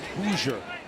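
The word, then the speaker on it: Hauser: It's pronounced Hoosier. Hoosier number one kicker, that guy, Nolan.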